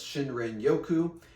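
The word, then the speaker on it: Shinrin-yoku: In fact, ancient Japanese culture, they had I think its actual pronunciation was Shinrin Yoku, and it's a Japanese practice of forest bathing.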